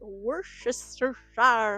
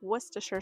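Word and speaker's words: Worcestershire: Uh, my brain always wants to say it with this funny accent and call it worister sauce, but that's not actually what it's called. It's worsher sauce.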